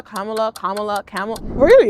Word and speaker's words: Kamala: how do you pronounce Kamala Kamala Kamala Kamala camel really like how did we elect